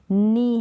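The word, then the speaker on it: know: Night है, night, और ये है नो, जैसे ये नो लिखते हैं ना, तो ये और ये दोनों नो अलग अलग है, स्पेलिंग डिफरेंट है, तो मीन भी डिफरेंट है, लेकिन प्रोनाउंसिएशन सेम है। ठीक है, इसका मतलब तो नहीं, और इस नो का मतलब जानना होता है, और यहाँ पर के साइलेंट है।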